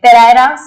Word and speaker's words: Pereira: His interaction with the great scientist Professor Vikram Sarabhai and the Reverend Peter Bernard Pereira, okay, Pereira is the pronunciation, shaped his thought on religion.